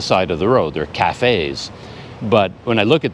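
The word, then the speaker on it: cà phê: So even cafe, 2 syllables, they separate it into 2 words, and it's actually Ca, Fe.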